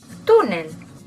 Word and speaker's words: túnel: por ejemplo la palabra túnel. En este otro caso vemos que el golpe de voz está en la segunda sílaba, contando siempre, por favor, de derecha a izquierda. Túnel, 1 y 2.